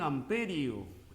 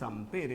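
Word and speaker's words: ampère: La intensidad de corriente en amperio. En amperio. Aunque el nombre correcto es ampere, ¿no?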